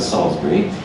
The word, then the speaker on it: Salisbury: 2 syllables in English, Salisbury. And he moved the town there, and so it became.